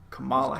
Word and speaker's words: Kamala: Ryan what'd I say I said Camila so come on Kamala Harris that's right okay so come on ooo I like caramel a-- caramel that's right Kamala Harris is it